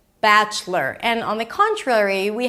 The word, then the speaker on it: Bachelor: And then the most important thing here is that you don't pronounce the o. It's not lore, but it's lur. Bachelor. Bachelor.